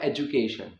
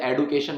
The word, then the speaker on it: education: तो ये जो वर्ड है, मैंने बोला कि इस वर्ड की जो प्रोनाउंसिएशन है वो है एजुकेशन, और हम एडुकेट या एडुकेशन नहीं बोलते हैं।